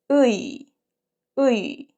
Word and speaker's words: 의: So the movement is back to front. To E. So you can say this and E this. So if you say together quickly, it's 으이.